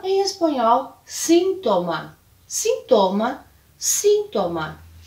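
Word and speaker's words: síntoma: ainda espanhol é e a pronúncia vai ficar diferente por causa da localização da sílaba tônica então em português sintoma em espanhol sintoma sintoma sintoma o outro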